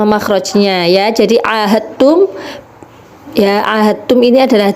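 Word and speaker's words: عاهدتم: Jadi ahadtum, ya, ahadtum ini adalah dal sukun bertemu dengan huruf ta. Jadi bacanya ahadtum, langsung kepada taknya, bukan kepada dalnya.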